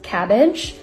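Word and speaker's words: CABG: stable within normal limits everyone pronounces it as cabbage coronary artery bypass graft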